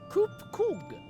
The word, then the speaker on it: Koop-Koog: As for nomenclature, to address my individual person, I believe it would be pronounced Koop-Koog.